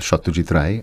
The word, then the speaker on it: Satyajit Ray: and which you have to pronounce as Satyajit Ray.